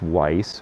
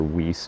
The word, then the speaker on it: Weiss: and uncomfortable to wear this one is weiss or whis depending i've heard people pronounce it both ways the german pronunciation would be weiss but this was made